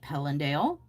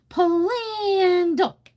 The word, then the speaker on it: Pelandale: I'm like, "Pelandale." She's like, "Pandal." Pandal. Pandal. Pandal. Pandal. Oh, I would have I was like, not only are you pronouncing it wrong, I really we don't need to sing it, you know.